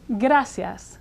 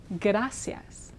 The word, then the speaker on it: gracias: which means thanks now the r here is again like a double D little bit trickier after a consonant so we'll practice it try saying g day like an Australian a couple times fast g day now say now say gasas you're getting very close to the Spanish R when you do that